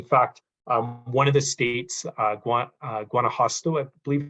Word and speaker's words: Guanajuato: In fact, one of the states, Guanajuato, I believe it's pronounced, they've got, I believe, 10,000 plus people working on this in volunteer and staff capacities.